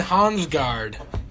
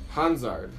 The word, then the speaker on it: Hansard: Hans guard and marquetta where's the G and Hans guard Hans ours yeah see see you said it wrong too anyway that's gonna do